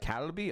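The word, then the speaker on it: 갈비: how I approach it calby it's more like calby okay thank you corn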